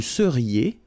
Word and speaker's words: seriez: Vous seriez. So here when you've got this Z at the end, then you get the sound et seriez. So vous seriez, okay?